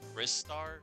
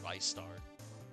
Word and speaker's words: Ristar: Cause yeah, for a long time, I remember the first time I saw that name, I saw it as Ristar, but I think it's pronounced Rystar.